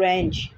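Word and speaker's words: wrench: उर्दू में चाबी और इंग्लिश में रेंच बोला जाता है, रेंच, डब्ल्यू इज साइलेंट।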